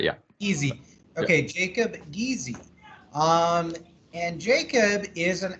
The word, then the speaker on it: Giese: Am I pronouncing this correctly? Guys? Giese, but yeah. Easy. Yeah. Okay, Jacob Giese.